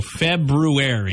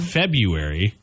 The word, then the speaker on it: February: months ago February yeah it's not February it's February yeah February but I I said I've said that so many times if no it's February no it's not there's an r in there it's not a silent R there's two RS actually but it's the one after the B February how about the